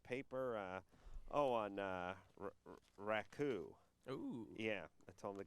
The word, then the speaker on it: raku: from his junior college to correct me on my uh pronunciation of the firing of clay technique known as uh raku that i called raiku it is he also corrected me